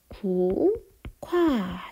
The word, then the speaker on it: 국화: 국화는 어떻게 발음이 나죠? 국화 이렇게 발음이 납니다. 자, 얘는 기역과 히읗이 합쳐져서 키읔으로 바뀐 거죠. 그래서 이런 경우에는 자음의 축약이 일어났다라고 볼 수 있는 거예요.